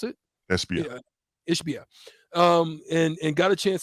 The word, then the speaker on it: Ishbia: How do you pronounce it? Ishbia.